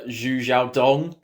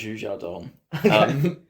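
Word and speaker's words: Xu Xiaodong: a dude called uh zhu zhao dong um who was a who apologies if we butcher any names i believe it's pronounced zhu zhadong but he was a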